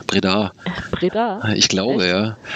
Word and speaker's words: Breda: Ich glaube, das betont man nur auf der zweiten Silbe. Breda. Breda? Ich glaube, echt? Ja. Es kommt von der Breda.